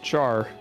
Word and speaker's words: char: Well in uh the programming world we pronounce it char. Oh really? When we when we talk about a variable that is declared as a character we pronounce it char.